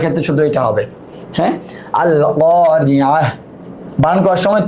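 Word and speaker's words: القارعة: আল ক্বারিআহ, আল ক্বারিআহ, মাল ক্বারিআহ, থেমে গেলে এইভাবে হার উচ্চারণ হয়ে যাবে। ওয়া মা আদরাকা মাল ক্বারিআহ, মিলায় পড়লে তার উচ্চারণ করতে হবে আল ক্বারিআতু মাল ক্বারিআতু ওয়া মা আদরাকা মাল ক্বারিআহ।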